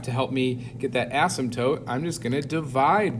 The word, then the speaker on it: asymptote: and it has that asymptote which is approaching zero i'll go ahead and write that again here for the vocab that p is silent it's an asymptote asymptote if i was graphing